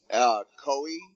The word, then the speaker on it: Koi: Koi, kind of like koi, the koi fish.